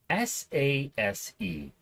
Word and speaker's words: SASE: first what is it s-a-s-e pronounced SASE which means absolutely nothing